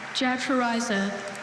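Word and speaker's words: jatrorrhiza: Jatraza.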